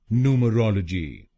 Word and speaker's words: Numerology: बोलेंगे, तो इसको बोलेंगे न्यूमरोलॉजी। न्यूमरोलॉजी। नू म रॉल जी। नू म रॉल जी। न्यूमरोलॉजी। न्यूमरोलॉजी। इसमें भी आपको तीसरे शब्दांश पर यानी ROL पर जोर डालना है, न्यूमरोलॉजी।